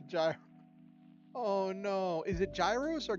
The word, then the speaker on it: gyros: with chat but ah the g is silent that's gross foreign